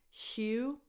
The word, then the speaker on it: Hugh: Hugh Jackman. Hugh, the last two letters are silent, so it's just Hugh, a strong H, and then U.